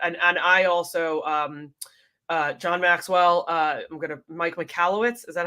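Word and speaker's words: Mike Michalowicz: that is definitely something that, and I also, John Maxwell, Mike McAllowitz, is that how you say it?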